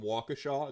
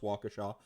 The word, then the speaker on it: Waukesha: There's a bit of a if you want to piss, so Kicker, if you want to piss off someone from Waukesha, it's pronounced Waukesha.